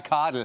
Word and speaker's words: Kadel: Ja, Kadel. Ich bin ein Schwabe und daheim im Schwabeland sagen wir der Kadel.